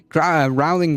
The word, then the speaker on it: Rowling: Rowling rhymes with bowling.